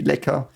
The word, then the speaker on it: Lecker: But Lecker means, so the CK is just a C, Lecker. In the Dutch language, I think it's 2 Ks, by the way, if you do this, but and in English it would just be a C.